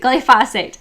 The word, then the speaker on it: glyphosate: Glyphosate, that's how you say it, glyphosate.